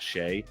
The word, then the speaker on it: Shai: out my guy who called me out for saying Shai and not Shay the cor the correct pronunciation of Shai the name spelled that way is Shai sorry so and he's also said personally I don't care how you say it but my mama named him Shai so if his mama